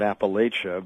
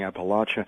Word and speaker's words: Appalachia: It's a geographical difference, a difference of geographies.